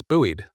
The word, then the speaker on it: buoyed: Do you pronounce buoyed as boo? What? Get out of our chat. Booed. No, it's buoyed.